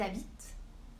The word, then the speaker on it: habitent: Ils habitant, ils habitent, ils habitaient, ils habitent. Et oui, on ne prononce pas le AN, on ne prononce pas le ENT du verbe. Il est silencieux.